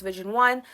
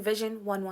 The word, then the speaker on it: Vision11: nellore and my business page on Instagram at vision11 events pronounced Vision one that's again Vision one events thanks